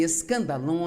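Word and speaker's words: σκάνδαλον: A palavra ofensa vem de uma palavra grega, pronuncia-se escandalon, e é, na verdade, a parte da armadilha onde você pendura a isca que vai atrair o animal e permitir capturá-lo.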